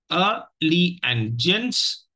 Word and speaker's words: allegiance: is Allegiance it is divided into three syllables a Lee and gents okay let us look at the transcription of it so and the second syllable carries the stress so that is the primary stress syllable okay so there are